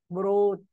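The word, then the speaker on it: brought: فورجيت فورجوت فورجوتن برينج بروت جيتش لا تنطق بروت بروت.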